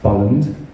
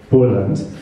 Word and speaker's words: Bolland: bond it is pronounced bolland a lot of people call it studio poland which is very understandable but they're two l's um we at some